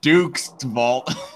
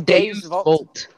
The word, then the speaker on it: Deus Vult: Vault, not Duke's Vault. It's What the Deus. fuck? No, It's Deus Vault. Deus Vault. Yes.